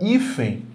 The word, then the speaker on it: hífen: Olha, a palavra hífen é acentuada porque a sílaba tônica dela é essa aqui, olha, hífen, isso aqui é mais forte, e termina em N.